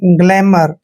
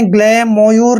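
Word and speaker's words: glamour: मैं करेंगे यहां पर आर से पहले जब भी ओ यू आता है वहां पर ओ यू साइलेंट होते हैं तो आर को हमने र पढ़ना है ग्लैमर हमने ग्ले मोयूर नहीं पढ़ना है ग्लैमर पढ़ना है ग्लैमर मींस होता है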